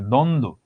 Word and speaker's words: দ্বন্দ্ব: দ্বন্দ্ব, অলরেডি একটা যুক্ত বর্ণ আছে। সান্ত্বনা, অলরেডি একটা যুক্ত বর্ণ আছে। এটাকে আমরা কি বলে থাকি? এখানে বফলার কোনো প্রকার উচ্চারণ হয় না, এখানে বফলার কোনো প্রকার উচ্চারণ হয় না।